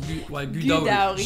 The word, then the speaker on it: Gudauri: Et du coup, la station où on est, ça s'appelle Gudauri. Avec l'accent. Ça se prononce Gudauri.